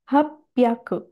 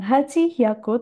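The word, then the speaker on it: 八百: 700 nanahyaku, 800 hapyaku. Hapyaku, bukan Haji Hyaku tapi Hapyaku.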